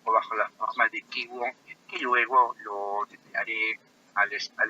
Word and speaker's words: Qigong: Incluso en pacientes con cáncer, la respiración profunda bajo la forma de mindfulness o Qigong, se pronuncia Qigong, contribuye a disminuir en más del 50% el estrés asociado a la enfermedad como causa-consecuencia y también el dolor.